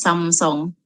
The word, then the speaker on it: Samsung: all these brands like samsung the spelling um how to say a spelling is like samsung but then the pronunciation is some song like from the korean words it's samsung and then hyundai usually